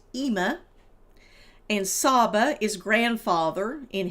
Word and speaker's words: Ima: And Ima is mother in Hebrew and Arabic. It's sometimes spelled Ima. In this book, it's spelled Imma. And it's pronounced Ima.